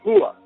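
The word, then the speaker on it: هو: Él, en árabe, referido a Dios, se dice Hua, pronunciado no como H aspirada, sino con lo más profundo de la garganta, cerca del esternón.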